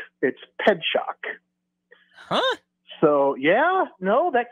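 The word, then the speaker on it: Pietrzak: race back its way back to but yeah ped shock is the way you pronounce okay so I just looked it up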